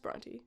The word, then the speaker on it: Brontë: Did you know it's pronounced Brontë because I did not?